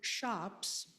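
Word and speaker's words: scops: Old English literature began as an oral tradition with shops spelled s c o ps but the c is pronounced as an h with shops or poets reciting epic poetry for memory.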